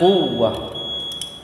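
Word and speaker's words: قوة: Kalau masuk sempurna dia dibaca waw bertasydid. Maka bacanya quwwah.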